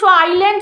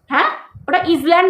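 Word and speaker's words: island: শেখ আগে উচ্চারণ করতে আইল্যান্ড বলে ওটাকে উচ্চারণ হয় না উচ্চারণ থাকে অনেক কিছু জিনিস থাকে অমিট বলে ঠিক আছে ওটার উচ্চারণ থাকে না উ বাংলা কথা উইল্যান্ড নয় ওটা আইল্যান্ড বলে আইল্যান্ড মানে দ্বীপপুঞ্জ আইল্যান্ড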